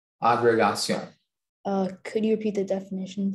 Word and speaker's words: agrégation: in front of a committee to pass their agrégation. Could you repeat the language of origin, please? It's from French. Could you repeat the pronunciation? Agrégation.